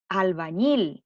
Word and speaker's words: albañil: Tenemos albañil. Ahí hay una palabra aguda. ¿Por qué es aguda? Porque lleva la sílaba tónica en la última sílaba. La sílaba ñil.